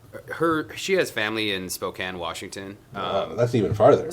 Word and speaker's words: Spokane: little bit but also did you say Spokane yeah is that how it's pronounced wait yeah what did you think it was pronounced as Spokan um I